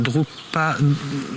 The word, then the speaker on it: Drukpa: Alors, vous avez créé une association qui s'appelle Drukpa, que je prononce bien, non ?